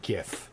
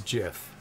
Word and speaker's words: GIF: what is it like like Jiffy peanut butter yes yes and so